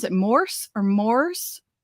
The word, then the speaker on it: Morss: do you pronounce it Morse or mors how do you yeah so it's like it's like horse with an M like horse with an okay Morse Morse got it